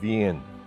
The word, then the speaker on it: Wien: People there still pronounce the name of their city as Wien, after Venus and its etheric music and architecture.